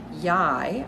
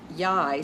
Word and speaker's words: Yhi: we are exploring today yai I believe that's how we pronounce it she is an